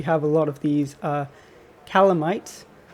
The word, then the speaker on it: Calamites: For example, we have a lot of these calamites, or I think they're pronounced calamites. I don't think they're called calamities.